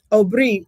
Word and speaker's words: Aubrey: Aubrey is how we pronounce it because my first language is Creole.